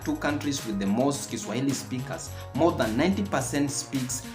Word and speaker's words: Kiswahili: But if you're looking for fans in languages, I dare you to consider Swahili, natively pronounced as Kiswahili.